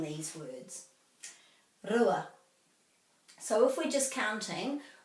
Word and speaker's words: rua: So the r is rolled in Te Reo. Rua, rua. So it's not rua because the r is the English pronunciation of the r. This is the Māori word, so it's r.